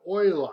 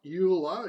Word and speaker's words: Euler: so there you go oil I that's how he pronounces his name because he was Swiss it's not Euler even though Europe is Europe he's not you apparently his oil are just like the Oilers down in Texas anyway enough jokes about